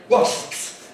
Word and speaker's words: wasps: be able to have wasps, wasps, wasps, wasps. Again, one syllable in English, wasps, wasps, wasps.